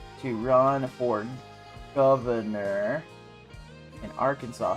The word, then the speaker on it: Arkansas: As a as a welltraveled and real Bubba Hotep can isn't meant to be Arkansas. That's how you say it.